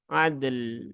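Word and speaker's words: عدل: perlu tunaikan sifat-sifatnya ya Dal itu Qalqalah lam itu Dia ee tawasut ya jadi ad ad ya ad kemudian El Ya adl ya adl bukan AD kalau adl Nah lamnya jadi sidah nah tapi ee lamnya dialirkan sedikit karena dia tawasut ya minha adl adl bukan adl tapi adl jadi timbangannya sendiri-sendiri Dal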